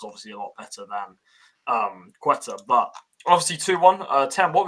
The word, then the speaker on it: Ceuta: Ceuta, my bad, I was pronouncing it wrong. Ceuta.